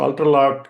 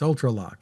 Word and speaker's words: Ultraloq: So Ultralock is um you know multiple smart locks that we deliver to the market.